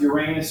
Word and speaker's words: Uranus: which is uh okay you can pronounce of Uranus or darkness yeah neither one is perfectly free from any jokes I say Uranus because it's free from the worst of the jokes yeah so